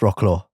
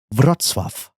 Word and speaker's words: Wrocław: Is it pronounced Rocklaw? No. It's pronounced Wrocław.